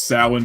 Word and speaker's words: Samhain: I know it's Samhain, but I like that they pronounce it.